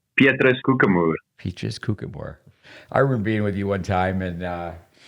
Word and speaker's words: Koekemoer: You're getting better, but it's Petrus Koekemoer.